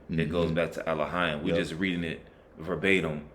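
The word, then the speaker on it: אֱלֹהִים: The correct way of saying it would be Elohim.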